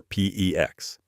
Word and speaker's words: PEX: that prefer copper or PEX. PEX rhymes with flex.